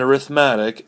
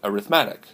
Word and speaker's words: arithmetic: lesson all right number one is called an arithmatic a are i th em a tee I see you may have heard this pronounced arithmetic arithmetic is the noun way you